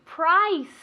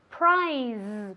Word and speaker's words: price: Very good, price. Price. Muy importante decir esta palabra con un sonido S, ¿vale? Price. Nunca prize, porque eso es premio, ¿vale? Entonces mucho cuidado. Price, con una S española, ¿vale?